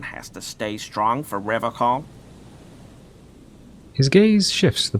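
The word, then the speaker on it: Revachol: He pronounces Revocol with a hard K, unlike other people. Serious question time. This man is no innocent. No one is. Interesting. You said Revocol.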